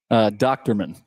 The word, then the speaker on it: Dochterman: How do you pronounce his last name? Dochterman.